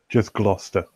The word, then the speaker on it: Gloucester: Yes, it looks like Gloucester, but it's pronounced Gloucester. Or am I getting that right, Richard? Just Gloucester.